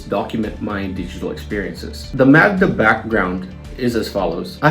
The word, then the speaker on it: Magda: my Magda Vlog channel it's spelled m-a-g-d-a called Magda and it's not Maga because I don't want